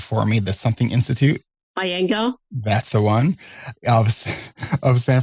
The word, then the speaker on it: Iyengar: teach yoga, and you're going to have to pronounce that for me, the Something Institute. Iyengar.